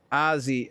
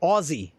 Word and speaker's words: Aussie: Say it with a short a so it's not uh so it's not Azie. Uh it's Oh, Aussie.